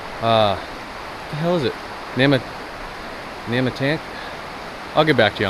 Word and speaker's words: Nahmakanta: I've heard it pronounced as Nahmakanta and as Nahmakanta. My wife doesn't like the latter, so I'm going to stick with Nahmakanta, because I love my wife.